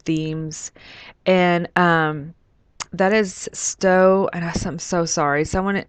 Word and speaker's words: Stowe: and um that is stowe and i'm so sorry someone already told me how to say it once but i believe it's stove vermont and i have to say